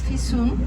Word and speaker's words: Fisun: My name is Fisun. It is spelled F-I-S-U-N. The easiest way to memorize my name is by saying to yourself, I have to pay my fee soon. Fee soon.